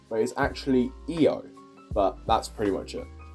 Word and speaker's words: Io: Io is in fact not pronounced Io, but is actually Io, but that's pretty much it.